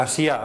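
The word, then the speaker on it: Asiá: Asia, acento en la última.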